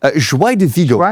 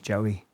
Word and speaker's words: Joy de Vigo: Ah, Joy de Vigo. Yeah. Okay. Joy. Joey.